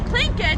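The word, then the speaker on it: Tlingit: o t s and the actual word clink it it's not spelled with a KRC spelled t-l-i-n-g-i-t that's why I say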